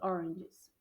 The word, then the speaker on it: oranges: How much are these oranges? Percebam que a pronúncia dessa daqui é oranges. Oranges. A gente não fala orange or orange muito forte.